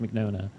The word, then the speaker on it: Mignogna: I'm pretty sure it's Mignogna. Mignona. I think it's pronounced Mignona.